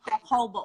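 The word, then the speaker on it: jojoba: spell J so that's J o be a hobo oil is how it's pronounced um and a little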